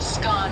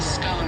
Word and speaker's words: scone: Both scone rhyming with gone and scone rhyming with bone are accepted pronunciations, though regional regional variations exist.